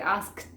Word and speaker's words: asked: Si queremos pronunciar las 3, fíjense, asked, es como mucho. Entonces sacamos la K.